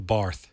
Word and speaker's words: Barth: Your name is pronounced uh, Phil Bar. Is that it? Phil Bar. You got it.